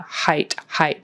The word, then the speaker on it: height: We don't want hate. Hate's a different word, so we want height. It's like a long I sound, height.